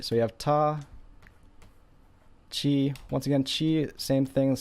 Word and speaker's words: ち: would be T and there is no T sound in Japanese the T sound turns into Chi very much like the